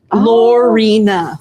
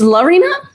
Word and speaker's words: Lina: Lorina. No, cuz she said Lina. It's Lina. La. We've all been saying your name wrong.